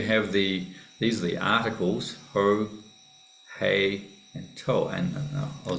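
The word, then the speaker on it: ὁ: So the whole here, you have what's called a rough breather over the top, not to be confused with something going the opposite direction.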